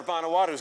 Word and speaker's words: Vanuatu: Rory from Survivor Vanuatu's got a question for you.